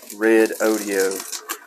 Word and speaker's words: Redodo: I'm pronouncing this correctly I checked their website they pronounce it red audio kind of a unique